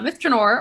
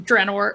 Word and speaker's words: Myth Drannor: So where do we want to start with this place that can be pronounced either way? Well, Myth Drannor, or Drannor, or however we're gonna say it, is one of the major cities in an elven empire called Cormanthor.